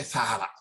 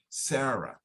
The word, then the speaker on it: Sarah: year old sister sarah sarah we don't say salah we're not saying sada we're saying sierra okay so try to pronounce the names correctly in the language they are it's not tomas we don't say tomas is thomas thomas we don't say sada it's sarah okay sarah so thomas is